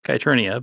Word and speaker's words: Kernia: It's pronounced Kernia but no one ever gets it right so they just call like like Eternia from He-Man uh maybe.